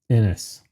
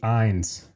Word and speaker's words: Innes: Little funny side note, I have been mispronouncing Joey's last name the entire time I've known of him, which is spans, at least the last 4 years. I've called him Joey Ines for a very long time, and you'll hear, it